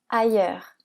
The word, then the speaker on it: ailleurs: lire ce mot facilement on a le a qui fait le son a la combinaison ill qui fait le son i le eu qui fait le son e parce qu'il est suivi du R donc c'est le son e ouvert le R qui fait le son e et le S qui est silencieux donc ce mot